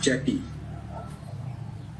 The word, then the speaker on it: cethi: Itu ejaannya seperti itu, CETHI, ceti.